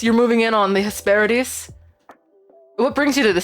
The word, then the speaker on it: Hesperides: Hesperides. I love that. I love that the pronunciation guide writes it Hesperides, like a D's nuts.